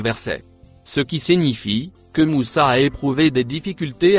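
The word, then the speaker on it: موسى: Le dernier mot en couleur marron se prononce Moussa.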